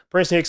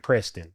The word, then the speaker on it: Prinston Hicks: It's not spelled like the school, but it's pronounced that way because I know people be like Preston.